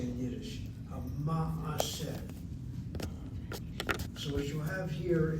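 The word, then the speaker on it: מעשה: It was closed and was part of a closed syllable, but people kept on saying maaseh, maaseh, maaseh. They opened up that shvanah to a shvanah, maaseh.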